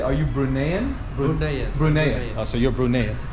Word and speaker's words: Bruneian: Bruneian.